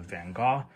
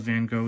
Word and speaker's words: Van Gogh: There's some history of Van Gogh in here. Or Van Gogh, sorry. Sometimes I say it wrong.